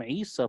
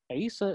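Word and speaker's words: عيسى: Isa is close to Isu, which was the bad son And then they changed it to rhyme with Musa. So Isu became Isa.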